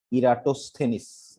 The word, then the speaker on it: Eratosthenes: Shiva of ইরাস, ইরাটোস, উচ্চারণ একটু অন্য, ইরাটোস থেনিস, ইরাটোস থেনিস, ঠিক আছে।